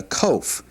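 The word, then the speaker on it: קוף: Now we had a cough earlier. Now this is a coff here. So uh pronounced very similar but cough and this is a coff. This has a a definite q sound to it.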